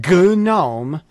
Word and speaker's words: GNOME: Google it they used gnome g n o m now these guys decided you're supposed to pronounce the GN as a g so I'm mispronouncing about